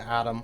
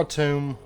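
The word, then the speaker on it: Atum: excited to get to adam or a tomb i know some people i think it's i think it's officially pronounced a tomb i will still be calling it adam um because i've just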